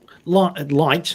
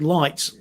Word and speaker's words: Lytt: Because Lytt, I was being mispronounced. I was called Lit because it was a Y. It sounded like Lit to me. But Lytt is a subsidiary of BP, I believe.